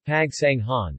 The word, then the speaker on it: Pagsanjan: Pagsanjan, pronounced Pagsanghan, officially the municipality of Pagsanjan, Tagalog, Bayan ng Pagsanjan, is a third-class municipality in the province of Laguna, Philippines.